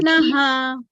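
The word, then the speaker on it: naḥ: Yeah, we see the dot under the H, right? Yes, And what is the syllable before that? Na, right? Na, ha. So the H also follows the same sound. Na, same way ha. Na, ha. Okay? That's what the dot under it means.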